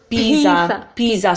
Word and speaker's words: Pisa: and then so it's Pisa so guess not Pisa no Musa yeah so the S fix is dead sound is between two vowels and it's only one e same thing we need